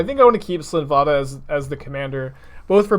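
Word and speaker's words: Slinn Voda: Slinvada of the Risen Deep.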